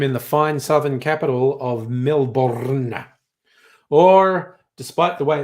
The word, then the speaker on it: Melbourne: We actually just wanted the city to be spelled Melbn. All those extra letters are interlopers. It's not Melbourne, despite how it looks. It's Melbourne.